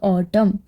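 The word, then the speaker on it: autumn: यहाँ N silent है तो ऑटम.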